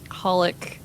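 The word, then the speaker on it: xxxHOLiC: holic okay I know there's three x's in front of it they're not pronounced there's Alessandra Hunter right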